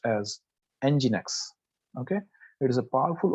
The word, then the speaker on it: nginx: move to that 37 so nginx it is pronounced as nginx okay it is a powerful open source server